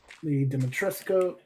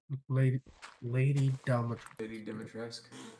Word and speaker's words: Dimitrescu: Zugoff Orr, Duke Nukem, Leon Kennedy, Lee Dimitrescu. I can never pronounce that name. Lady Dimitrescu.